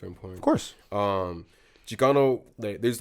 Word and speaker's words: Chicano: Explain what I believe it's pronounced Chicano. Chicano.